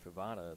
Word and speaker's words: Fatada: Vincent Fatada. It's kind of pronounced the same way as you would in Nevada.